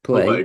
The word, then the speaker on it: Pillay: And we're speaking with Ann Smith and pronunciation Pillay. Pillay, Pillay.